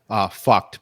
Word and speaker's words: PHUKD: Fucked, but it's spelled PHUKD.